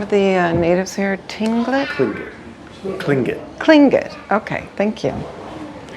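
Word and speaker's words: Tlingit: model of the Old Fort how do you pronounce the name of the natives here tingling cling it cling good okay thank you and um that's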